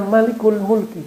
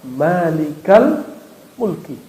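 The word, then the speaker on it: مالك الملك: kali dua kata maka tidak dibaca Malikul Mulki bacanya Ya malikal Mulki coba Antum doa Rabbana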